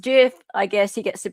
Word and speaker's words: GIF: Intended it to be pronounced GIF.